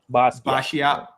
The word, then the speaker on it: Basquiat: Basquiat.